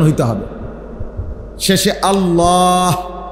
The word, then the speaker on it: আল্লাহ: শেষে আল্লাহ, শেষে একটা গোল হা আছে, ছোট হা। আল্লাহ মানে আল্লাহু। তো হুটারে শ্বাস ফেলাইলে হলো আল্লাহ।